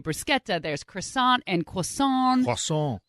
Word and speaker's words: bruschetta: like this you know we say bruschetta supposed to be a bruschetta there's croissant and cool